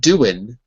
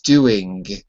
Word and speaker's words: doing: Okay, and the tricky thing with doing is the letter G in doing. Because it's not doing with an N. It's doing with a G. That G is formed when the back of your throat closes together. Doing. And you don't even have to say G, right? It just is a closure. There's no extra vowel.